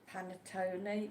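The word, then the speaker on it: panettone: Square boxings and he says it's pronounced panatoni.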